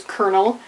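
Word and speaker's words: colonel: know pronounce it right Kel not colonal or colonal or whatever even though it doesn't have an r in it it actually is Kernel um left tenant not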